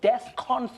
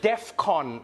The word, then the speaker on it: DEFCON: not the point but that's not how you say it I know it's not the main issue here I know that Defcon 3. not Defcon 3.